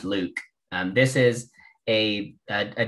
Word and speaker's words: LIWC: and logical words uh from liwc or it's pronounced luke um this is a